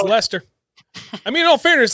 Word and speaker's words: Leicester: Lester Mass they're uh which by the way it's pronounced Lester but it doesn't look anything like it looks like like yesterday